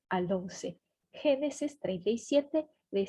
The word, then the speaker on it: Génesis: É Gênesis, o que esse acento faz é marcar a sílaba tônica, a sílaba que dá impulso para a palavra, aqui dá potência para a palavra.